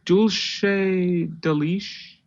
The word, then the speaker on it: dulce de leche: It's like dulce de leche. Dulce sounds fine. I mean, I think the C isn't like a CH, it's like an S. It's not like deuce.